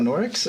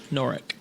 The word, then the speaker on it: Noric: So did we ask them about Norix, or I feel like I'm getting the name wrong? Noric.